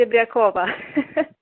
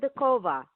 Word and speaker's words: Serebryakova: the show react hi my last name is pronounced it Abed Koba ah what a beautiful sort of the Cova is that I say that right yes that's